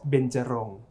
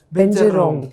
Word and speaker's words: Benjarong: craft from ceramic called benjarong benjarong yes that's the thai pronunciation binta means five rom